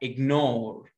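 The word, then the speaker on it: ignore: اسمها اجنور. ايه ده يا مستر؟ ما انت الجي فوق سايلنت وراها ان، ليه هنا قريناها؟ طبعا ده كله مشروح بالتفصيل. اجنور لونج او شورت اي، ايه؟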